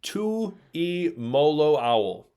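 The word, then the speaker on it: Tuimoloau: Tuli Tul Molo owl.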